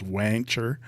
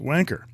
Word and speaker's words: Wancher: A lot of people says, no, it's not wanker. It's it's like rancher. It's wancher or wancher. But I've said that in my pen group a few times, and they've admonished me that no, it's pronounced wanker.